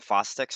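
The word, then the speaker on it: Chvostek's: So some of the signs of hypocalcemia, like actual true hypocalcemia, would be what they call Fostek's sign. The CH is silent for some reason.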